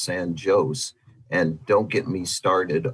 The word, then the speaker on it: San Jose: We also have one that's spelled like the world pronounces San Jose. It's pronounced San Jose.